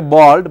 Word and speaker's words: bald: People usually say bold head, bold head. Yeah. It's not bold head, it's bald head.